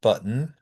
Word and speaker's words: button: So, um, these are pronounced button, mitten, cotton, flatten, satin, enlighten, frighten. Again, this is not a lazy pronunciation.